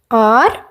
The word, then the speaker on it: を: Pronounced o, used as a object particle.